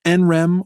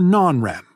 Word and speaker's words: NREM: Our sleep is divided between REM sleep and NREM sleep, which you can pronounce NREM or non-REM.